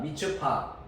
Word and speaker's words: 미스바: 미처파. 미처파를 이제 한글로 음력을 할 때 미스바라 발음을 이제 쉽게 하기 위해서 미스바라 그래서 미처파를 미스바라.